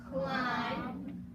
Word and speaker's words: climb: And then, so we just remember the letter B can be silent. Here we go. 1, 2, 3. Read with me. Comb, limb, tune, crumb, plumber, dumb, lamb, numb, climb, thumb, doubt, womb.